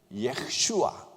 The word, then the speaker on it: 예슈아: 히브리어로는 예슈아 예슈아라는 발음인데 어디서 많이 들어본 이름 아닙니까?